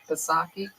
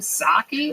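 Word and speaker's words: Psaki: Jen Pasaki. What's that chick's name? Saki. Who? What's that? The Jen Saki. Is that how you say it? You don't say the P at all.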